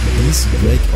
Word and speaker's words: X-Drake: Zudem wird sein Name East Drake ausgesprochen. Dies bedeutet ebenfalls übersetzt 10.